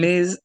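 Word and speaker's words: מזבח: I hear you saying T.S. Mitz. Can you say Miz instead? Mizbach.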